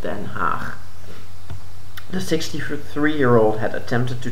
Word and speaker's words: Den Haag: War Crimes Tribunal in The Hague on Thursday. It's really weird to pronounce it as The Hague because it's a city in the country where I'm from, and it's called Den Haag.